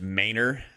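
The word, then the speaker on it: Manor: But yeah, Ma N O R is pronounced Mayor here.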